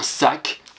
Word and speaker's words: sac: Là, c'est pas Q, c'est bien juste un C à la fin qui va se prononcer K. Quelquefois, la lettre C, quand elle est à la fin, elle peut se prononcer K. Donc, un sac, S-A-C.